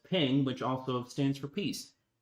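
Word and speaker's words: 苹: In the Chinese culture, the word for apples is pronounced as ping, which also stands for peace.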